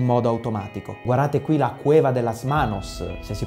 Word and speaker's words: Cueva de las Manos: Guardate qui la Cueva de las Manos, se si pronuncia così, la Grotta delle Mani in Patagonia,